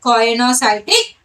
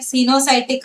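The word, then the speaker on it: coenocytic: Some of the peoples are pronouncing like sinusotic hyphae. That is also correct. You can pronounce whatever comes into your mouth. Okay, sinusotic or choanocytic, both are correct.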